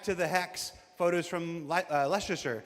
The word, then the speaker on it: Leicester: Uh, straight out of Klesher back to the Hex photos from Leicester. How do you say? Is that Leasher? Lester.